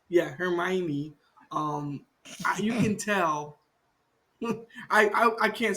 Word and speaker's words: Hermione: Hermione. Hormones. Yeah, Hermione.